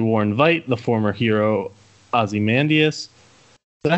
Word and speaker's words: Ozymandias: Rorschach goes to warn Vite, the former hero Ozymandias. Is that how you say it? Yeah, Ozymandias.